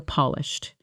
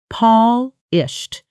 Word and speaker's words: polished: Example, after months of practice, her presentations became noticeably more polished, smoother transitions, cleaner slides, and far more confident delivery. Pronunciation Paulished stress on the first syllable.